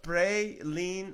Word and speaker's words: praline: okay they were nuts to hear pronounced pray lean oh I should know